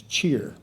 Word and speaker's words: chair: He pronounced chair as cheer, Mr. Cheerman.